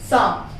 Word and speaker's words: psalm: साम, PSALM, S से पहले P आया है, साइलेंट हुआ है वहां पर।